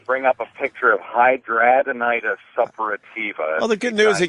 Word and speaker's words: hidradenitis suppurativa: Hidradenitis suppurativa. Yeah, I'm pronouncing it right.